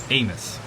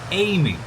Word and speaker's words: Amis: Now, local people say Amos. But, it is technically a French word, and uh he you have went by Amy. Amy, that is how you technically say it, but everyone around here says Amis.